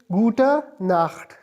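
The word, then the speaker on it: Gute Nacht: गुटा नाख गुटा नाख यहां पर गुटन के साथ एन नहीं है।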